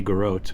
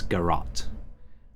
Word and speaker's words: garrote: a two mana spell or garrote i think is the correct pronunciation i looked it up i'm just not used to it i want to say garot but i think it's garat um or grot and uh so two mana